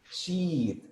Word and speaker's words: sheet: Si la pronunciamos mal y hacemos más corto el sonido, decimos otra cosa, que me imagino muchos ya conocen la palabra.